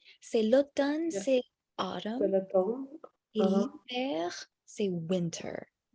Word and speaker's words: hiver: Et l'hiver, c'est winter. How to read the last one? L'hiver. Mhm. Oui. So the H is silent for hiver.